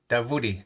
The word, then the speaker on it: Davoodi: your last name uh i've got you down as davodi that sounds very similar to david exactly it is avid it is david